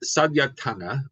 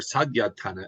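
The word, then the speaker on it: saḷāyatana: of together so the sadana or sadana it's spelled with a D or an L but that D has got kind of a soft it's kind of a sof d s or the six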